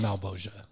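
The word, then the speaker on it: Malgosha: Malbolgia. Yeah. I guess it kind of A male bulge. Yeah. Male bulgia. Yeah. But in the thing it's pronounced Malboja.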